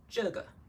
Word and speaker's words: 这个: If you forgot, this one is 这个. 这个. Remember pulling it long?